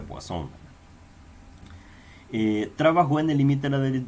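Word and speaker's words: Poisson: son varios en 1837 aquí dice poison pero el detalle de que como este señor es de francia este apellido se pronuncia por acción trabajo en el límite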